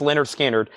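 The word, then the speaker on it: Lynyrd Skynyrd: Productions $44.99 and then Leonard skinnard pronounced Leonard skinnard 64.99 all right Judith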